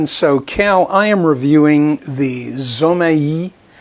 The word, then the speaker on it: Zomei: i am reviewing the zomaii that's the way i'd pronounce it well i i revert to my latin pronunciations speaking spanish and portuguese zomaii 150 watt led video